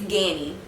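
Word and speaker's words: Ganni: more to the channel how do you say it danny ganny well apparently it's ganny ghani ganny whichever one you call it i'm going to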